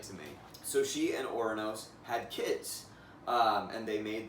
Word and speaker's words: Ouranos: The other pronunciation of Ouranos is Uranus, but I think I'm going to use the former for this video.